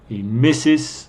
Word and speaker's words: Mrs: Brown Mr is Sor misses pronunciation is Mrs is Senora this is